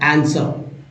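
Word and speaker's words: answer: याय दो ही एग्जांपल मिल जा रहे हैं आंसर आंसर के तुरंत बाद डब्लू आया तो डब्लू साइलेंट है डब्लू नहीं पढ़ते हैं आंसर पढ़ते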